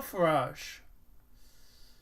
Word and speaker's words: Farage: Neil Farage. Nigel Nigel Farage. Farage.